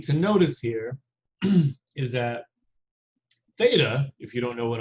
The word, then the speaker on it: theta: notice here is that theta if you don't know what i'm saying you pronounce this as theta which theta is a